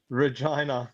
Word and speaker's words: Regina: pronounced Regina.